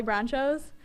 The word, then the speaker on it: Bronchos: I think it sounds a lot like nachos. They always say it's Bronchos, and I always have to correct them, but it's kind of funny. The H may be silent.